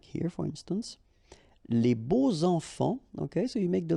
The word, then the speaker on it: beaux enfants: And here it's quite interesting because even if you've got this X, well, phonetically it will be like Z. So like if it would be an S, okay?